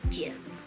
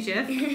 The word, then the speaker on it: GIF: So some people say GIF. Oh, they say GIF? Like Jiffy peanut butter?